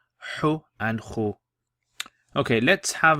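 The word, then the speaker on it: حُ: How would you pronounce this? You'd say ju. Ju. Hu.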